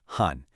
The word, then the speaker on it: 寒: Next is this one, han, pronounced han.